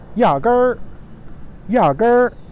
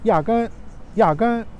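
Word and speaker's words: 压根儿: But again, that's because people use their own dialect to help them pronounce Mandarin Chinese. And the last word is yager, yager.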